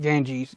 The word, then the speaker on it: Ganges: and physiology um the gangs gharial or the indian garil i don't know why i'm saying gangs i think it's got ganges carry on i mispronounced that the entire time i'm sorry uh anyway